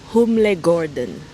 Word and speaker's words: Humlegården: We are at Humlegården. Let me see how to pronounce it again. Humlegården.